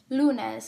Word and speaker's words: lunes: syllable for example lunes counting from the last the second to last syllable is lu the oral stress must be in lieu for it to follow the rule for example the word is pronounced lunes not lunes so this word follows